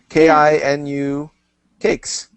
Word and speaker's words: Kinu Cakes: The URL is Kinu Cakes, if you could spell that. Oh, sure. It's phonetic. It's like Japanese. Kinu Cakes, right?